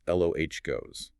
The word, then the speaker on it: Logos: John introduces the logo, pronounced Logos.